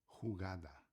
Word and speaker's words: jugada: Lembre-se que toda palavra com J que aqui é J sempre tem o som de garganta.